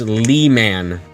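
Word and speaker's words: Leman: Pronounced Lee-man. Surprisingly close to lemon.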